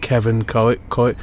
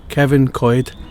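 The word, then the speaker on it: Cefn Coed: I think it's called pronounced Kevin co co Kevin covid C FN c o e d it's a little don't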